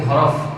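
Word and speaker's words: ح: শিক্ষার্থী বন্ধুরা, একে একে কয়েকটি হরফ আমরা শিখে নিলাম। আমরা স্ক্রিনে যে হরফটি দেখতে পাচ্ছি, আমি এটা এখন আপনাদেরকে উচ্চারণ করে দেখিয়ে দিয়েছি।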